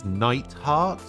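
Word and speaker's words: Neithardt: So I just realized that his name is Nightheart. But I've been pronouncing it Neidhart. As in the wrestlers.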